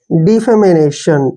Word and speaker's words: defamation: Next word देखिए, DEFAMATION, देखिए इसको कैसे करेंगे? जो डी का उच्चारण हम डी के रूप में लिखते हैं और FA को हम फे पढ़ेंगे, फे, और एम का उच्चारण मैं लिखेंगे, ए को ए के रूप में लिखते हैं और TIO का उच्चारण श लिखते हैं और एन को न। डिफेमेशन, ठीक है ना, डिफेमेशन।